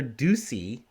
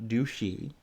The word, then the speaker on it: Ducey: Arizona Governor Ducey. I'm pretty sure I'm pronouncing that right. It's not douchey.